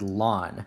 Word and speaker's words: ln: don't pronounce it Ln a lot of times you're gonna see it pronounced as the word lon so for example I